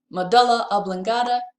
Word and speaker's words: medulla oblongata: and talk about pronunciation so according to Cambridge dictionary medulla oblongata is how you would say the medulla okay okay so moving